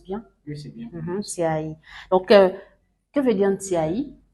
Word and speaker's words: Ntiaï: J'espère que je prononce bien. Oui, c'est bien. Ntiaï.